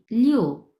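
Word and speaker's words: 六: পরে কি আসছে দেখিয়ং লিও সিয়ং ছিলিও এর মানে হচ্ছে শনিবার এই লিও এটা হচ্ছে চার নাম্বার টোন সো নরমালি আপনি উচ্চারণ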